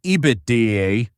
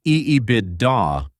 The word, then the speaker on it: EBITDA: It is called EBITDA, pronounced EEIDA.